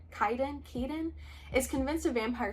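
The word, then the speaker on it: Kidan: When her sister June disappears, Kedan, I don't know if that's how you say it, Kaden. K I D A N Kaiden.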